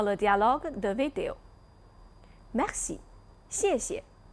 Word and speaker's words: 谢谢: Attention à la prononciation de ce mot, il faudrait prononcer doucement le deuxième caractère. Merci, 谢谢. Peut-être certains amis n'arrivent pas à bien maîtriser la prononciation de la consonne initiale X. X doit se lire S, pas X.